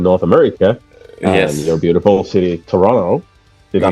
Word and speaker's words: Toronto: America your beautiful city Toronto did I pronouncing right they Toronto no no no there's there there's only one te in Toronto Toronto yeah yeah that's how